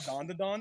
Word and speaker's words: Dandadan: Did I say it right, Zenith? Yeah, you did. Dandadan.